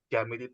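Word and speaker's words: جامد: Jamid itu tulisannya jim alif, ya, jimnya panjang, jim alif, kemudian mim dal. Bacanya jamid. Jamid itu artinya adalah dia beku, tidak bisa untuk berubah bentuk.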